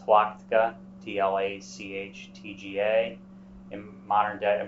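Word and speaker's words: Tlachtga: hill within line of sight of Terror called twatica d-l-a-c-h-t-g-a in modern day in modern times it's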